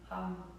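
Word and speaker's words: Ham: And then we activate, we articulate, we ignite this space with the syllable of hum, H-A-M, hum.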